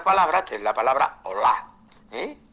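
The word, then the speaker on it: olah: luego aparece Otra palabra que es la palabra Hola eh o L A H H la eh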